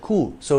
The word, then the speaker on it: coups: However, when using the short form of the phrase, that is just the word coup, we enunciate the S in the plural in English.